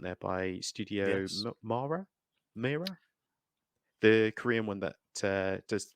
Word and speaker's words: Mir: Yeah, I'm gonna just MIR, I think it's spelled. Nightmare of the Wolf, isn't it? Yeah. It is Studio Mir or Mer.